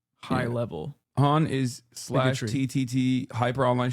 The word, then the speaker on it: hon: It's pronounced Han, but it's spelled Han, H-O-N, and it's like,